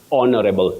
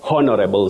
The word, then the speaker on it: honorable: Bill MH Parliament and you also say honorable not honorable so and so honorable because H is silent so whoever sent that